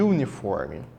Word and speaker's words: uniform: consoante né só que o u pode ter dois sons pode ter o som de u ou o som de a nesse caso aqui o som dele é u uniforme toda vez que o